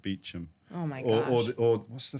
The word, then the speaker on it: Beauchamp: know that you know that word Beauchamp p-e-a-u-c-h-a-m-p yeah but they pronounce it Beacham oh my God what's